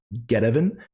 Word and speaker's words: Get Evan: was get evan and i am not pronouncing that wrong it is get evan um apparently they either